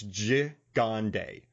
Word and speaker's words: Gigandet: Now, while watching this movie, I got to tell you, man, so I phonetically wrote his name down and I listened to an interview, but it's Gigandet.